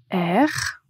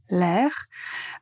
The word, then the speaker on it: air: Euh juste quand vous prononcez, faites attention à bien prononcer R. Et quand vous utilisez la première expression avoir l'air, le mot R va en fait se prononcer ensemble avec l'article l'air, avoir l'air.